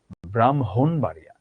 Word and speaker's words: ব্রাহ্মণবাড়িয়া: ব্রাহ্মণবাড়িয়া তুমি বলছো, কিন্তু এর উচ্চারণ তো ব্রাহ্মণ না, এটার উচ্চারণ ব্রাহ্মণবাড়িয়া।